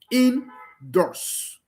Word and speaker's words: indoors: The same thing with indoors. Indoors. The primary stress is found on both syllables.